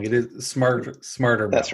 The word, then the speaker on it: Smartrmail: about smarter male and correct me if I'm pronouncing it wrong it is smar smarter male that's right okay um is it possible or